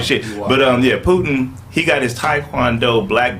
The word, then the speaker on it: Putin: That's not how you say Putin. I'm saying Putin wrong. No, you saying it right.